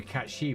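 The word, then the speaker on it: Cait Sith: I said it wouldn't be a cat she, wouldn't it? Cat she. I've forgotten how to pronounce it.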